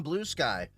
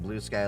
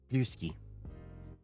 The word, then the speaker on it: Bluesky: I keep pronouncing blue sky like it rhymes with brewski. Blueski.